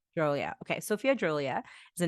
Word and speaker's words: Dhrolia: Dhrolia. Dhrolia.